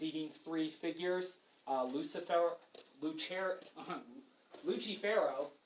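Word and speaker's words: Lucifero: three fig Lucifer lucher luchero is how you would say his name in Italian luchero I suppose and you can see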